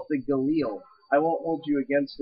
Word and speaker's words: Galil: yeah that's another thing guys fun fact it's pronounced Famas not fam and the it's the Galil not the G you can even call it the Galil I won't hold you against it for that